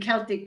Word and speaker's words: Celtic: Why are you bothered then by people not saying Celtic but Celtic? Same fucking thing. I don't get mad about it, but it is a difference between a hard C and a soft C because it's the same fucking word.